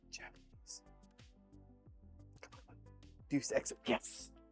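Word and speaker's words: Deus Ex: I don't know how to pronounce it. Deuce X. Japanese. Come on. Deuce X.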